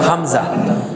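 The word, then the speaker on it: همزة: এর মধ্যে 1 নম্বর মাখরাজ যেটা এ হলকের শুরু থেকে, এখান থেকে হামজা কি উচ্চারিত হবে? হামজা, হামজা।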